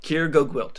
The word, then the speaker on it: Keir GoGwilt: I don't know how to pronounce his name. Yeah, totally. Keir GoGwilt.